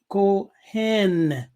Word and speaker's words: kohen: And it's pronounced Kohen.